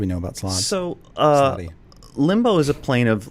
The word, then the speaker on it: Slaadi: Singular Slaad, plural Slaadi.